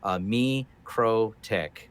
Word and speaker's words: MikroTik: that we have here me crow tick isn't like me the crow and a little tick so we're gonna draw